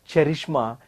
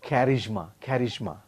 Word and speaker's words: charisma: be careful for example it is not cherishma it is charisma charismatic personality it is